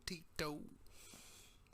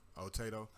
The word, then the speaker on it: Otito: Oh, Tito.